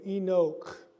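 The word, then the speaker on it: Ἐνώχ: and look at the way enoch is spelled i'll make it enlarged here so we have e that's the greek word for the letter for n o inok we have a chi to get the k sound so the question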